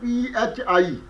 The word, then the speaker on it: phi: constant was written as p h i meaning Phi and another similar constant